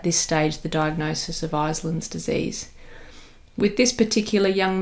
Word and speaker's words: Iselin: So in this location we call it Iselin's disease, or Iselin's disease as I'll be pronouncing it today.